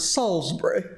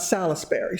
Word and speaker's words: Salisbury: you've probably heard of they pronounce it Salisbury uh not Salisbury Salisbury if you've ever been